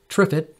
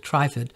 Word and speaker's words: Trifid: tripod nebula also known as mezzie a20 some pronounce it TripIt but I pronounce it trifid is one of the most beautiful deep space